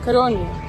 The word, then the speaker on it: Codorniu: Codorniu.